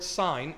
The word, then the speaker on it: sign: For example, the word sign, S-I-G-N, you write it with a G. Why?